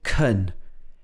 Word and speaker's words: can: bottle of water so here the can changes to kun a changes to uh